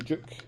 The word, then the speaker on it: Duke: want to pronounce it obviously say juk or say duke and you know the sort of British language Scottish English whatever they say juke like as if it's like a jukebox so they say it